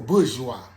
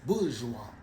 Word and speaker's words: bourgeois: No, my nigga, that's bourgeois. When you look it up in the Webster Dictionary, it'll break it down to you, and you'll see W-A-Z, bourgeois. It's pronounced like it got a Z in it, but that's where the terminology bougie comes from.